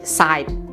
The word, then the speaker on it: site: Nah, ketika kata sit yang duduk ini di akhir huruf, maksud saya di akhir kata tersebut ada huruf E, maka bacanya jadi site.